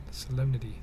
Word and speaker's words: solemnity: You pronounce the N? You don't pronounce it when you say solemn. Yeah. Solemnity.